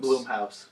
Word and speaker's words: Blumhouse: Is it Blumhouse or Bloomhouse? Bloomhouse. All right, Bloomhouse is going